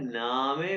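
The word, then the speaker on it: Name: नामे। मैंने कहा जी कि जर्मन अल्फाबेट्स, जर्मन वर्ड्स में हर अल्फाबेट्स को प्रोनाउंस करते हैं नामे।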